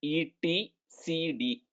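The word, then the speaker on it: etcd: It is pronounced as ET CD.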